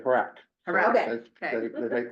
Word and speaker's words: HRAC: pronunciation is as a crow would say, Harak. Harac, Okay. okay. They make Harak.